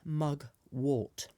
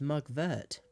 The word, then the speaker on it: mugwort: explain the name pronunciation it's not mug wart warts are those horrible things that grow on your hands and are caused by